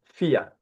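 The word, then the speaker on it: vier: Okay, number 4, okay, is fear. Fear. In Dutch, V is F. Okay, in Dutch, V, we read it F.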